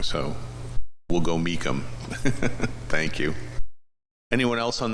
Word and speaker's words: Meacham: And now I obviously know I said his name wrong, so we'll go Meacham.